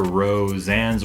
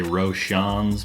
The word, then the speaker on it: Roseanne's: me and my group, we like to say Roshan's, because I don't know, for some reason I just like to mispronounce all the names on these supporters just for fun, because I don't know.